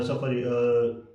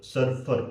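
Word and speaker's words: Surfer: सो we will take a help from a सफर सफर सर्फर sorry मैंने उसको गलत pronounce किया because मैंने ब्राउज़ एआई यूज़ किया है।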